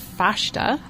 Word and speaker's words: festa: Well, I believe, and I had to learn this too recently, it's pronounced fasta. Oh, okay. It's Portuguese. Oh.